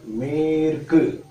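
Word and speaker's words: மேற்கு: Then for west, it is called Merku. Bigger me. Merku. I written in English as M-E-R-K-K-U. Just for the pronunciation. Merku.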